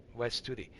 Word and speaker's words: Wes Studi: but especially Wes Studi that's his name Wes Studi that's how it's pronounced he he should get